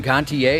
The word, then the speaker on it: Gontier: Dakota have that in common that uh Adam Gontier is how you pronounce his last name yep yep lead singer